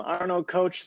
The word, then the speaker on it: Arno Koch: Yes, you pronounced my name very right. I'm Arno Koch, the coach.